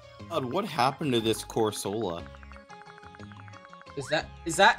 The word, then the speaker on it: Corsola: have obtained fast on what happened to this corsola is that is that how you pronounce it is that how you're gonna show up in my stream and pronounce it corsola yeah that's better Orsola hey hey hey Charles